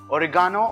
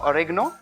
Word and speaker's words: oregano: finally let's add in oregano or oregano depending on how we pronounce it in different countries just a tiny piece